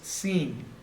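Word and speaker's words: שׂ: If there's a dot or a dagesh on the right-hand side, it's sheen. If the dagesh is on the left-hand side, it's seen.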